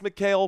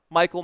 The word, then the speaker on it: Mikhail: And I thought it was Mikhail, but Michael makes more sense to me, but I'm going to go with Mikhail because that's the right way to say it. Mikhail.